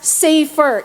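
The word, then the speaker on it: ספר: that is used here is safer okay it's pronounced as safer it means a book Okay not take note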